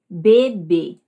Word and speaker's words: bebê: País, coco, baba, carne, bebê, maio. Vejam que todas as tônicas ficaram nas sílabas que tinham o acento, seja ele o circunflexo, seja o agudo, certo?